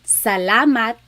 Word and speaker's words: salamat: So the letter A, ah, ah, ah. Not ah and not ah, just ah, ah. So let's practice saying salamat, salamat, salamat. It's not salamat and it's not salamat.